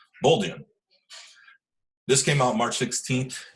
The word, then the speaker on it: Bolduan: It's Kate Bolduan. I'm pretty sure that's how you say it. Bolduan.